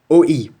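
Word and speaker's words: 오이: This combination of letters means cucumber or ogurek, and it's pronounced OE. So if you ever come to Korea, you can go to any restaurant and say OE, and they will serve you a cucumber.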